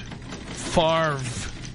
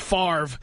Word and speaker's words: Favre: Now you have a son named Favre.